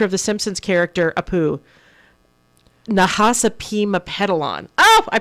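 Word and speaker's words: Nahasapeemapetilon: Nahasapima Pedalon. Oh, I pronounced it right.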